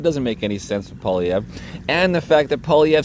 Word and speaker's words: Poilievre: Polyev. So sort of a weird R, silent R.